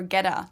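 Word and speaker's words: goetta: germany and ask for ghetto nobody well no well first of all so i was gonna say it's spelled g-o-e-t-t-a which a german would not pronounce as ghetto no uh we would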